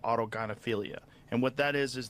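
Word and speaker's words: autogynephilia: They get which I've seen enough video auto gyophilia. That's how it's pronounced and enough pictures.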